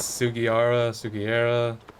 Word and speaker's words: Sugiura: I feel like every single time I say his name, I'm pronouncing it slightly wrong. Let's go, Yagami-san. It's Sugiura.